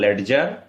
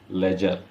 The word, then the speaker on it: ledger: লেখার সময় লেডজার, pronunciation লেজার, প্রনাউন্সিয়েশনের সময় D will be silent, লেজার।